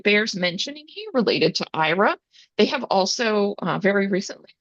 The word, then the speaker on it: Aira: Um, Next up is the IRA platform. That's spelled AIRA.